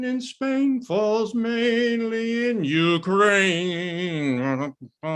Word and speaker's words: Ukraine: you ukraine ukraine ukraine ukraine well tony it's ukraine and maybe you can join me in in